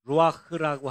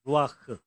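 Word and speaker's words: רוח: 요걸 그대로 읽으면 루아흐라고 하는 단어예요. 한번 따라해 보세요. 루아흐. 예, 루아흐.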